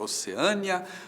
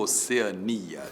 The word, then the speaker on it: Oceania: fica a Austrália Hum E agora oceânia ou Oceania t tanto faz tanto faz as duas formas existem e você pode dizer